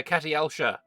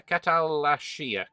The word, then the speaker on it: Khatalashya: Yes, we have the uh Catialia or I'm pronouncing that wrong every single time. Holy balls. Uh Cat Yeah, Catalashia. Catalashia um mission tree.